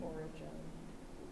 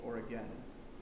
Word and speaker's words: Origen: Alexandria, Justin Martyr, and Origen or Origen, depending on your pronunciation. Origin. If you're in Britain, he's Oregon. Are we in Britain? No, so we'll say Origin for the context of Thank this you.